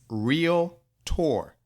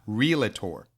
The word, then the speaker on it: realtor: of my pet peeves it's real tour not real a tour it's real our AL tour tio are where people get the additional syllables in that I don't know it is not real it tour all right all right